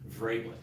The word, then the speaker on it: Vrablik: Vrablik. I said it right. The same V, it's a long A and a short I, it's Slovak, so it's tough.